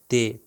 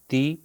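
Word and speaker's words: تِ: हल्की थी त या ते त ती तू ते जो कहा वह उर्दू का ते कहा मगर अगर उसके नीचे जेर लगाकर मैं ते कहूंगा तो यह प्रोनंसिएशन गलत है ती है प्रोनंसिएशन और इसमें जबान आपने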